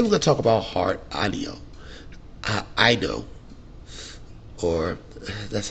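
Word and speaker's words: Heart Aino: Today we're going to talk about Heart Anio. I know. Or, that's how you pronounce it.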